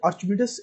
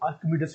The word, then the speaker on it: आर्किमिडीज: आर्चिमिडीज एक साइंटिस्ट, अच्छा इसको ना आर्चिमिडीज भी बोलते हैं, इसको आर्किमिडीज भी बोलते हैं। आप दोनों तरह से इसको प्रोनाउंस कर सकते हैं, आर्किमिडीज भी, आर्किमिडीज प्रिंसिपल, आर्किमिडीज भी और आर्चिमिडीज भी।